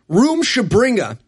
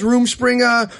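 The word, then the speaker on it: Rumspringa: Yeah, you learn everything you need to know when he pronounces Roomspringa as Roomshabringa. And the characters all pronounce it differently throughout this movie. They do. One character says Roomspringa.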